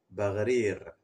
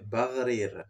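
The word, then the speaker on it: Baghrir: Bagrir. GH, ça se lit toujours R. R. Comme Tarazout, ce n'est pas Tagazout. Donc, le R et deux R roulés à la suite. Oui, Bagrir.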